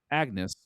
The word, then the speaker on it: Agnes: And this is less Shakespeare movie as it is Agnes, which I think the name's pronounced differently because of the era that it's in, but that's what her name is. Agnews.